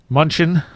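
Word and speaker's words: München: Munchen, Germany in 1986.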